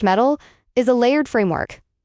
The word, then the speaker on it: MTIL: MTIL pronounced metal is a layered framework.